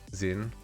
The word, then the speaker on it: Zin: Now, is that how you pronounce your name? Zin? That's how I'm thinking it's pronounced. It's hard to pronounce people's names, I tell ya. That is, oh sweet, got it right the first time.